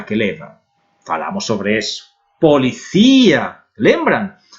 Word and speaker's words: policía: Policía. Lembram? Todas as palavras que acabam em ia ou em io em espanhol que tem a sílaba forte na I levam acento.